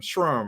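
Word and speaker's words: SHRM: to say what organization shrimp sherm trump what is it how do you say it s-h-r-m shrum right anyway so it was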